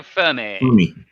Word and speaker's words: Fermi: is the question is that paradox called the fermi or the femi paradox speed probably knows what that is a lot more easier the femi paradox enrico fermi did you say femi for me for me